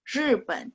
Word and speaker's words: 日本: RI bacanya nada 4. Pen, nada 3. 日本, Jepang.